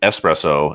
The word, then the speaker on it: espresso: had yeah but like i'm saying espresso is the right way to say it where some people will say espresso there's no x oh yeah that's dumb